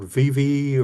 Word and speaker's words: Vevay: Okay, this is um along the Ohio River, Switzerland County, Indiana, a town called Vivvi or or spelled like Vive where the Kentucky River runs into the Ohio.